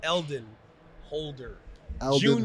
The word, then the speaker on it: Eldon Holder: for having me out so my name is eldon holder holder who came before me and we always